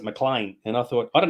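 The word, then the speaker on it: MacLean: hard but this is it's actually McLean but they pronounce it mlan and I thought I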